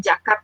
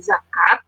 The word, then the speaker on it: zakat: Kemudian Z dilafalkan Z begitu ya, bukan J, jadi bukan jakat tapi zakat begitu.